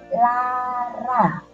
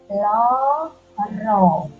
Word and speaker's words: lara: Ini membacanya bukan lara, tetapi membacanya loro. Sekali lagi anak-anak, membacanya tidak lara, tetapi loro.